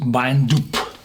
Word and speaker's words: Beinn Dubh: dark and it's called bind dup and uh well there's the first syllable of the Ben rinus for example or Ben romah and this Ben means